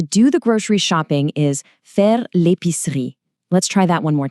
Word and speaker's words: faire l'épicerie: To do the grocery shopping is faire l'épicerie.